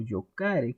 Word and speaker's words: jocare: cuenta que ludere y jocare o yocare, que es prácticamente la pronunciación correcta, pues entonces estamos aquí hablando de que tenemos una supresión, ¿sí?